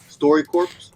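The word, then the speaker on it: StoryCorps: It's called Story Corps. Story Corps. Story Corps. Okay. Well, it's spelled corpse, but Story Corps. Yeah, core. Yeah.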